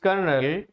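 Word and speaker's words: colonel: तो हम लोग कर्नल बोलते हैं जबकि स्पेलिंग क्या होती है सी ओ एल ओ एन ई एल होती है ये इस मिस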